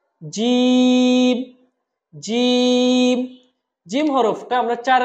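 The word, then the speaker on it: جيم: আমরা বলুন আমার সাথে জিম জিম জিম হরফটার চার আলিফ টা আনতে হবে চার আলিফ মানে দুই থেকে তিন সেকেন্ড দুই থেকে তিন সেকেন্ড আমরা টেনে বলবো জিম তারপরের হরফটা হলো হা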